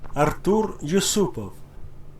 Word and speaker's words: Artur Yusupov: Yusupov, let's get pronunciation. Artur Yusupov.